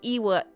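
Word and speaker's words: oíche mhaith: One dialect would pronounce it as Iwa, Iwa.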